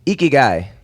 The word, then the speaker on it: IKIGAI: IKIGAI. That's why there's a little pronunciation clarification. IKIGAI.